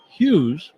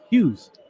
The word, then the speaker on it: Hughes: Hughes, 6 letters, 1 syllable.